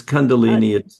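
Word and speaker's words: Kundalini: that, you mentioned, let me see if I'm pronouncing this correctly. Condolini. Is that correct? Yeah, it's condundolini.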